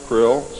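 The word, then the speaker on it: Krll: his name and title was his omnipotent highness Krill pronounced Krill spelled KR l l l or c r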